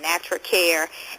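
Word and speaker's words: Natracare: try to find some products natur natural and that's spelled n a t r a c a r e natural care and glass Rags I think that's a cute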